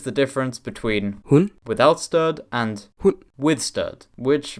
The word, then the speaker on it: stød: The soft D, or blødt D, as in the final sound of the word Stød. Now you've heard how it's supposed to be pronounced, let's take a closer look at this